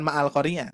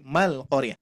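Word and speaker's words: مع القارعة: Bukan Ma'al-Qari'ah, tapi Mal-Qari'ah.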